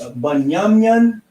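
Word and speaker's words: בנימין: So Benjamin, the tribe of Benjamin, in the Hebrew is Bunyamin, and he is how you would pronounce it.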